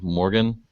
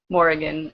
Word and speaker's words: Morrigan: And then he mates with somebody named Morgan, or Morrigan, I think it's pronounced.